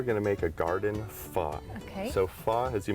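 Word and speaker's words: phở: Pho, You got it.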